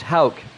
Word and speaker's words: Houck: Tanner Houck. Pronounced Houck. Tanner Houck.